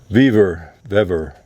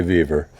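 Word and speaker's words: Vevor: And from Vever, I say Vever. I've heard it pronounced Vever, but so gonna be a little unboxing first before we do anything.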